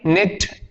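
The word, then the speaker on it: knit: इसको आप क्या पढ़ेंगे, निट।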